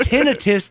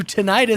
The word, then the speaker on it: tinnitus: Have we bastardized tinnitus to tinnitus?